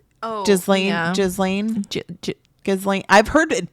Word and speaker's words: Ghislaine: Oh, Ghislaine. Ghislaine. I've heard it pronounced Ghislaine.